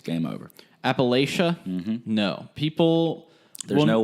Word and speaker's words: Appalachia: And so the way that you say Appalachian is the way that we say it. So there's like a little more reinforcement over what is correct and what is incorrect. Well, there's also the school that everyone pronounces correctly, Appalachian State. So I don't know where between them saying Appalachian State and Appalachia, they get Appalachia. Appalachia. It's somehow like when you take away the state, Appalachian